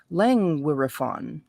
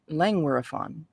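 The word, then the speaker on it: Llangwyryfon: here in lange were lenguirefon it's l-l-a-n-g-w-y-r-y-f-o-n lang wirefun langueraphon so that's where he digs graves on the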